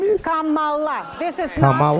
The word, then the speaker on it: Kamala: if you don't want to learn how to pronounce. Didn't she just say Kamala? Ain't that what her name is? Kamala. This is Kamala. not Kamala, which they say on purpose.